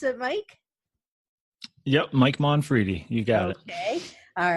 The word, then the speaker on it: Mike Monfredi: Is that how you pronounce it, Mike? Yep, Mike Monfredi.